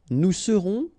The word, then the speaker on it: nous serons: Je serai, tu seras, final S not pronounced, il sera, elle sera, nous serons, final S not pronounced, vous serez, a Z at the end, et serez, ils seront, final T not pronounced, elles seront.